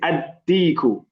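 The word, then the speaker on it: الديك: Deekun, we say ad-deeku.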